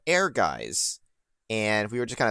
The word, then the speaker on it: Ehrgeiz: It's called Ehrgeiz, and we were just kind of talking about it before the actual stream really started here.